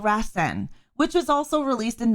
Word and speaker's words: Rasen: stories the sequel to this film is called rasen which was also released in 1998 it is